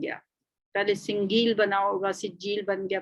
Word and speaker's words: سجیل: پہلے سنگیل بنا ہوگا سجیل بن گیا، پھر گاف تو خیر عربی میں ہوتا ہی نہیں ہے، اس وجہ سے یہ لفظ سجیل کا تلفظ اختیار کر گیا۔ اس کے معنی کیا